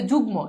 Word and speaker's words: যুগ্ম: থাকে যেমন খেয়াল করো এই যে যুগ্ম এই যে দেখো গ এর সাথে যুক্ত হইছে তার মানে কি ম ফলার উচ্চারণ আছে তাহলে খুব সিম্পল দেখো